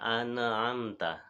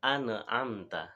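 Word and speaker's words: أَنْعَمْتَ: ayat ini eh Hai ada orang yang salah bacanya pada kata an'amta ya jadi bacanya ini contoh bacaan yang salah sirotol ladzina an amta ya and yang seharusnya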